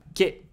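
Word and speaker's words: け: Ke. It's pronounced like ke in kelp.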